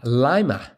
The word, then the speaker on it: Lima: Ohio City whose name is pronounced with a long I lima. Lima Ohio, not Lima.